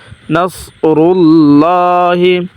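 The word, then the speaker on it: نَصْرُ اللَّهِ: নাসর লাম পেশ লাম খারা জবর লা হাজিরহি নাসরুল্লাহি এখানে একটি নিয়ম আসছে যদি আল্লাহ শব্দের পূর্বে পেশ থাকে তাহলে মোটা করিয়া পড়তে হয়।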